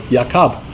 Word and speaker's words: Yaakov: So Yaakov, that's the proper name for Jacob. That's how they spell it in phoneticized Hebrew.